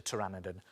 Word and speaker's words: pteranodon: Now, strangely, when it comes to spelling, pteranodon is spelt with a P. P is for pteranodon.